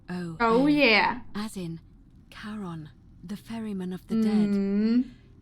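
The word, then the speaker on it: Charon: it's just as you described it only your pronunciation is a little off the name you heard wasn't Karen it was c h a r oh oh yeah as in karon the Fairman of the Dead karon who in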